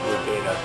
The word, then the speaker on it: Wudinna: part of the large futon composing nearby mount rodina that's how you say it and to the